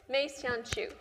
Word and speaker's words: Mei Xian Qiu: Ladies and gentlemen, Mei Xian Qiu. Did I say it right? Oh, that was pretty close. Mei Xian Qiu.